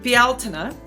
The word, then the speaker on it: Bealtaine: So, turning of the seasons and I pronounce it bialina because that is the way closest that I can do as an American anyway. That's the way that it's pronounced in Gaelic Irish.